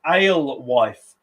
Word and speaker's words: alewife: So what type of creature is an alewife? Is it a fish, a bird, or a cat? A-L-E, as in ale, and wife, W-F-E, alewife.